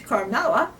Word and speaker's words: Carmela: That's not right. She Yeah. probably couldn't pronounce it. Yeah. It's Carmela. And the way she said it was Carmela. One L I had. Yeah. Uh-huh. She left out the eh.